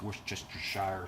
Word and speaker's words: Worcestershire: Worcestershire, yeah, you know, the one that everyone has problems pronouncing, but I believe it's Worcestershire sauce.